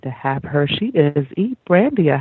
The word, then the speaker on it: Brandia: So share with the audience a bit about who is Brandia. Did I pronounce that correctly?